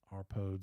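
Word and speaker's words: RPOADS: and that acronym is r-p-o-a-d-sr pods it's kind of how we pronounce it sounds like toads our pods in the chat and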